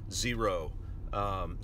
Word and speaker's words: Xero: If you don't have financial software, QuickBooks, Wave Accounting, whatever it might be, Xero spelled with an X, by the way, you need to get something.